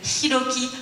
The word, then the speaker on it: Hiroki: Bonjour, je m'appelle Hiroki Hasegawa, mais en réalité, je m'appelle Hiroki Hasegawa. Merci de prononcer le H.